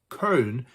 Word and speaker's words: Köln: With a population of almost 1.1 million people, this city, pronounced Köln, is the fourth largest city in Germany.